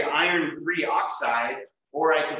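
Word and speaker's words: iron(III) oxide: introducing these right so Iron III oxide or Fe2O3 not iron two oxygen three that'd be the incorrect way to say that or people always want to say like die iron trioxide don't do that we only use that those prefixes when we have a covalent compound which we'll add next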